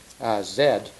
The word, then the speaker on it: Z: is called bed Z because Z and in Great Britain is pronounced Zed which makes it very